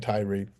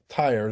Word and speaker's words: Tyre: when it was or I keep saying Tyrie. Tyer is the correct pronunciation when Tyer was taken down but this is part of the prophets of it in 28.